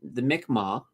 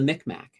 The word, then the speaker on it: Mi'kmaq: We've always called them the Micmac for the longest time. I mean, we've even have a big mall there called the Micmac Mall. So we have been absolutely mispronouncing their name for the longest time.